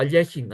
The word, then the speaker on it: Alekhine: Have what's called the battery or the Alekhine's gun, because Alexander Alekhine, or Alechin as it's pronounced, invented the idea of placing, or at